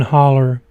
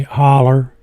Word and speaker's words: Holler: sign that said Whitman Holler Boat Dock. There's two ways to say it. I say it both ways. I say holler, hollow. I guess the correct pronunciation, if you're from around here, is holler.